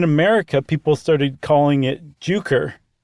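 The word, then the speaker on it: Jucker: people started calling it juker with the hard J like the J pronounced not like a y and then that very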